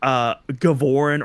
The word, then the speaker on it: Gavarin: I hate the way that Adam pronounces Gavarin in this game. I think Gavorin or Gavaron would be like a way cooler pronunciated name. Gavarin just sounds so weak. I don't like that, but that's the official way it's pronounced in the game.